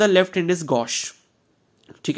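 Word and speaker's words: gauche: यूज़ किया जाता है वो क्या होता है गोश गोश की स्पेलिंग यहां पर देख लो जी ए यू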